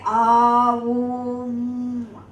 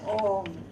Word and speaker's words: Om: Therefore, please, but don't say Aum. Don't separate the syllables. It goes as Om.